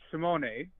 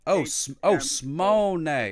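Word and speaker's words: שמונה: 8 is Simone. Simone? Monet. 2 syllables. Monet? No, Simone. Smone.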